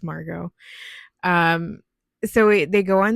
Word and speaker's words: Margot: I don't know why I always want to pronounce the T in her name, but it's Margot.